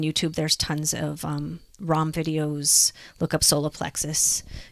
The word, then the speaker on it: Ram: or you're into sound the sound is ROM it's spelled Ram but it's like wrong like wrong really deep and drawn out because that vibration shifts